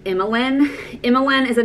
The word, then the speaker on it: Emmeline: It's kind of spelled like Emma Lynn. And again, you can kind of spell it however you want to. I like the traditional like Emmeline, although some people have told me that it's pronounced Emmeline when you spell it that way.